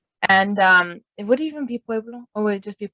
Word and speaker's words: Pueblo: Am I saying it right? You know Pueblo. Mm-hmm. Pueblo. Pueblo. And he's speaking Spanish with an English accent. Puebla. Puebla. There you go. I went to a Native American Pueblo.